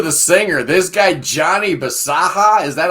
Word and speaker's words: Bisaha: And then we get to the singer, this guy, Johnny Bisaha. Is that how you pronounce his name?